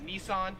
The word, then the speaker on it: Nissan: company right here so we would pronounce this in america as nissan however here in australia it is pronounced nissin number 12 is this